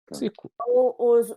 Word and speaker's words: Psykou: Elina Psico? Tudo que for terminado em OU, a gente fala U. Cico.